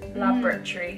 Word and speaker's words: laboratory: Yeah, I would say laboratory. Yeah, we kind of like smush the middle syllable. Laboratory.